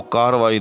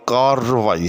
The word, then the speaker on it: کارروائی: یاد رکھیے گا کہ اس کا درست تلفظ جو ہے وہ کارروائی نہیں بلکہ کارروائی ہے۔ جی ہاں، یعنی یہ